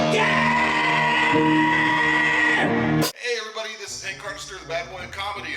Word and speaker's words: Hardister: I'm here with one of our celebrity comics, Hardister. I'm pronouncing that right?